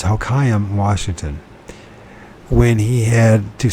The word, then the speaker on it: Hoquiam: I'm trying to think how to pronounce Hoquiam. So it's Hoquiam, Washington.